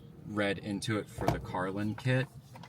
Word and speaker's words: CarlinKit: Um, when I read into it for the Carlin kit, is Carlin, right? Yeah, Carlin kit. Oh, Carlin kit. I've been calling it Carlen kit.